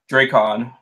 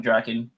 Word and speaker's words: Drakkon: for for the character i'm just going to call him lord draycon not draken oh my god what